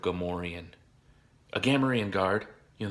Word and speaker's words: Gamorrean: call it the protector the correct way to pronounce it I was saying Kamerion instead of Gamorrean AG a marine guard